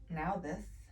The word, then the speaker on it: Nauthiz: Pronounced Nauthiz. I'm glad I didn't try that one because I would have totally not gotten it. Nauthiz.